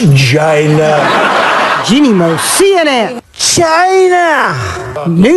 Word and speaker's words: China: pronunciation they're going to Jaina China China China China China China Alec Baldwin's Trump was like a bull in a china shop it's pronounced China Jeanne Moos CNN China